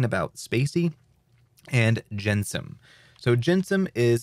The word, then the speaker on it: gensim: to be talking about spacey and jensem so jensum is spelled like this g-e-n s-i-m jensum and spacey